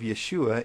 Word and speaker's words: Yeshua: The first sound of the second syllable of Yeshua is the sh sound.